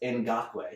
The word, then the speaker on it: Ngakoue: yeah in doc way is it spelled like it sounds and GA k o ue o in God blue it is not spelled how it sounds with clays Campbell and